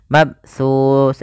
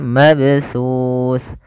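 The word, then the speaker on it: مبثوث: daripada qalqalah yang mana ada dua kesalahan dalam membaca qalqalah. Yang pertama tidak mantun, misalnya mabsus, ini salah. Atau mabsus menambahkan hamzah, harusnya mengadanya mabsus.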